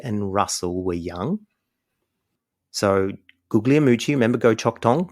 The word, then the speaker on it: Guglielmucci: Now, there was a guy named Danny Guglielmucci. That's how you say it properly, apparently. I heard him once correct us, but he was known as Danny Guglielmucci.